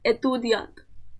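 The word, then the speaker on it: étudiant: Okay, इसलिए ये जो है अक्यूट एक्सेंट कहते हैं और इसका प्रोनाउंसिएशन होता है ए। तो यहाँ पे दिया है एतुदियांत, एतुदियांत।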